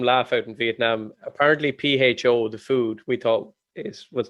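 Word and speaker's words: phở: Apparently, PHO, the food, we thought was pronounced differently. They pronounce it out there as like fur.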